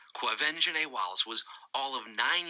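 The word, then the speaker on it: Quvenzhané: it's going on some of you right now clove engine a Wallace yes avenging a that's how you say her name clove engine a Wallace was all of nine years old when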